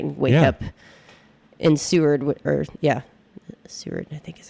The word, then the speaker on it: Seward: up in Seward Seward, I think is how you say it.